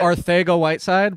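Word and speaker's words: Arcega-Whiteside: RJJ Arthego-Whiteside, by the way. That's true. That is the Spaniard pronunciation.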